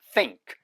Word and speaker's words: think: think 위차 아래차 사이에 이렇게 딱 당기면서 그 전에는 소리를 내시면 안 돼요. 물고 난 다음부터 또 소리를 내세요.